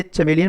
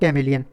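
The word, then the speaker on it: chameleon: कुछ लोग इसे चमेलियन प्रोनाउंसिएट करते हैं, कुछ लोग कैमेलियन। तो जो भी आपको सूटेबल लगे वो आप कर लीजिएगा।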